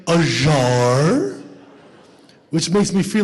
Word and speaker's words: Azhar: It's like buzzer without the B. And then they go, Uzer?